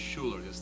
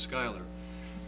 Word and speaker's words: Schuler: a little island where we pronounce it Schuler, and everyone else here thinks and knows it's Schuyler.